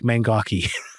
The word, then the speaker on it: Mangoky: And Mangok is actually spelled with a Y at the end.